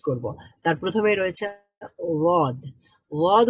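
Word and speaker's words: ض: ওয়াদ উচ্চারণ করার সময় যেমনটা আমরা বললাম যে এই যে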